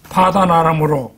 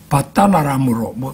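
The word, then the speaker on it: Padan-aram: 베델이라는 곳은 야곱이 형 에서를 피해서 파단 아람으로 갈 때 파단 아람 이런 그 발음도 그 개역 성경에는 바단 아람으로 그런 정도로 되어 있어요. 우리는 그걸 격음으로 원음에 가깝게 표기를 해놨습니다.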